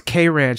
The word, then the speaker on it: Kranch: a cranch entry yet it's k range it's k ranch that's why you're not you're not pronouncing it right that's why you can't